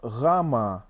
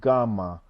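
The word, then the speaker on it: γάμμα: as I can tell we have Vita not beta Vita uh Rama not gamma gamma and we have uh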